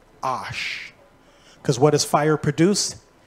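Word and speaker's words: אש: the fire the word fire in Hebrew is pronounced Ash because what is fire produced ashes it's actually pronounced Ash isn't that weird it's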